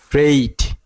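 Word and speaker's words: freight: আমাদের উচ্চারণ করতে হবে ই আই জি এইচ সব উচ্চারণ করতে হবে না এই চারটা বর্ণ মিলে একটি বর্ণ হয়েছে চারটা বর্ণ মিলে একটি সাউন্ড হয়েছে উচ্চারণ করতে হবে এই অর্থাৎ এই খুবই সহজ কিন্তু আমরা জটিল করে ফেলেছি এই তারপরে দেন ফ্রেট ফ্রেইড ফ্রে শব্দের অর্থ হচ্ছে মালামাল এফ এফ আর ই জি এইচটি ফ্রেইট ফ্রেট সহজ কিন্তু মনে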